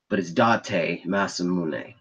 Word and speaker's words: Date Masamune: It's spelled Date. I know it spells like date, but it's Date Masamune.